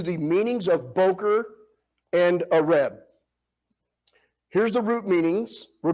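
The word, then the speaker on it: ערב: You see there, Ayin, Resh, Bet, Areb. Modernly, they pronounce that with a Va, Arev.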